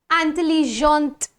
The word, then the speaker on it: intelligente: Intelligent, intelligente. Grand, grande. Because there is a rule, the pronunciation rule says that normally the last consonant is silent, but when the last consonant is followed by the letter E, then we will pronounce the last consonant.